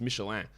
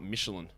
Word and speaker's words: Michelin: proper pronunciation of michelin yeah it's michelan it's i don't think there's any debate on that it's michelan it is not michelin because it is a french company that makes tires it's they're french it's